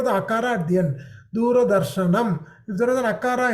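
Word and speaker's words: दूरदर्शनम्: There is an akara, r plus a. So you have to pronounce the a. Where is A, sir? R, half a plus a. Makes it ra, right? So when you're pronouncing, it is du, ra, da, r, sha, na, m.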